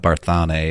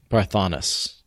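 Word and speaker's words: Barthanes: head cannon for me it's not Barth on a or anything is it breath breath honest breath honest yeah yep that's been confirmed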